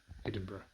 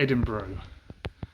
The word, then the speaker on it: Edinburgh: be heading out to Edinburgh Edinburgh not Edinburgh for those what do